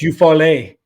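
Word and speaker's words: Eufaula: Best French player we've ever signed out of Eupfalla. I mean, it's a long list. I think it's Eufal is how they like to pronounce it.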